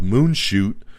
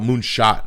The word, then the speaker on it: Moonshot: max sci-fi rom-com called moon shoot so check that out moonshot i should say sorry to pronounce that wrong it's going to be moonshot and he's going to star